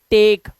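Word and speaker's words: take: नहीं टी ए केई टेक अब लास्ट का जो ई है वो साइलेंट है इसी की तरह एक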